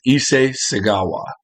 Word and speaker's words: Issei Sagawa: he's definitely twisted this man his name is issei segawa and i got the pronunciation was actually not too bad i think